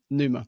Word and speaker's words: pneuma: So pneuma. Nephma. Yeah. Is that how you pronounce it now? Yeah, Nephma.